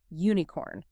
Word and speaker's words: unicorn: The word unicorn begins with the letter U, which is a vowel, but phonetically it begins with a hard U consonant sound, unicorn.